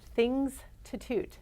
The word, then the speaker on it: Thingstitute: the red brick Courthouse say that one more time pronounce things to toot not the Institute but and it's about